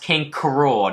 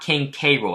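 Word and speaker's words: King K. Rool: his name is pronounced King Coral not King Cairo it's supposed to be like a pun of cruel king cruel so yeah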